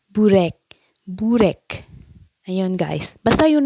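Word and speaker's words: börek: Minsan pinagtatawanan nila ako guys pag sinasabi kong borek. Ang tawang pronunciation siguro doon ay burek.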